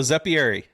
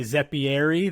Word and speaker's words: Zeppieri: How do you say that in, the native? Well, if I talk to someone that I like, that's really Italian, and I say Zeppieri, they're like, oh, you've like Americanized it.